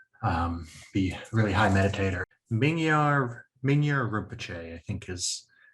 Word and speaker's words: Mingyur Rinpoche: I remember in have you read Mingyur Rinpoche's is it Dying to Live in Love with the World? No. He's a Tulku who like was trained from birth to be a really high meditator. Mingyur Rinpoche, I think, is how his name is pronounced.